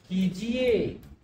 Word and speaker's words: कीजिए: यहाँ लिखा हुआ कीजिए, तो इसका सही उच्चारण है कीजिए, आप ऐसा कीजिए। देखिए क में ई की मात्रा बड़ी की, ज में ई की मात्रा छोटी, कीजिए, ये शब्द इसका शुद्ध स्वरूप है।